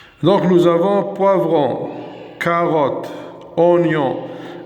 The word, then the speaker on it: oignon: Donc nous avons poivron, carotte, oignon. هنا le I منقروش و le G منقروش.